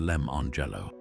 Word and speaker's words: Lemon Jello: clever twist that the names are pronounced or Angelo and Lemello.